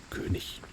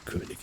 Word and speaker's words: König: König. I think like the more like proper way to say König is like king. Is König. König. That sounds really fancy, right?